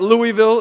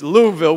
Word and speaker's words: Louisville: It is one syllable, Louisville. It is not Louisville, it is not Louisville, it's Louisville, which we were corrected a few times earlier today.